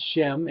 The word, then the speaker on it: Shem: to the Hebrews up what it's pronounced in english is shem and yeah and the